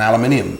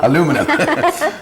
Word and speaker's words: aluminium: It was an aluminium bin, or how do you say it in this country? Aluminum. Aluminum bin, and when he threw